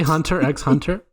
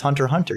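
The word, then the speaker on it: Hunter × Hunter: japan you don't say hunter x hunter no it's hunter hunter you don't pronounce the x it's there so yeah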